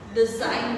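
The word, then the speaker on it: design: Next है साइन, इसमें जी बीच में है, साइलेंट है। डिजाइन, डिजाइन बोला जाता है इसको।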